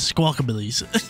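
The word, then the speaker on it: Squawkabilly: do you pronounce Pokemon it's guaca billies that's what it is squawk-abillies they're so sick I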